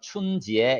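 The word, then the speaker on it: 春节: 중국도 슬라 리 있죠 춘 절이라고 하고 발음으로는 춤 지에 이렇게 에 여름 들어봤을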